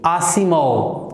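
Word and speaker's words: Asimov: Isaac, pronunciation क्या है? Isaac, ऐसी नहीं, आसिमोव, ठीक है।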